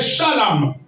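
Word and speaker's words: חלם: Le deuxième mot hébreu qui désigne songe, c'est shalom. Et shalom s'écrit C-H-A-L-A-M.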